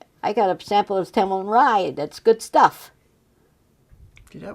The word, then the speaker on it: Templeton Rye: Yes, Templeton Rye was the best known whiskey around there.